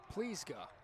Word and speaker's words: Plizga: They do have Thomas Plaziga, but he threw yesterday, so maybe they don't. Plizga, Thomas Plizga. I just looked at the pronunciation guide, so there we go. It's a lot easier.